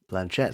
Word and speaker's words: Blanchett: Is that how you pronounce her name? Blanchett. That's how. Yeah, that's Blanchett.